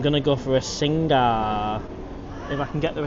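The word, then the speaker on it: Singha: Ben, Singa is actually pronounced Sing.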